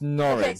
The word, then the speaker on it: Norwich: okay norid all right this is norch oh wait tell me how you say it say it again for me norid I'm probably not I I've got a London accent so I'm not doing it any justice but it's norch so you know in